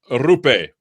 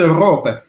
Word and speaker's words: Rupe: Rupe. Is it? No, say it again. I want to say it right. It's rope. Rope.